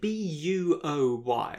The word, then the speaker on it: buoy: boy yeah as in b-u-o-y yeah i think in america it's pronounced buoy right which is sensible it sounds silly honestly